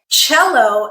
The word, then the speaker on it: cello: so these would be words like cello okay cello is spelled c-e-l-l-o but this C makes the sound okay or in English it's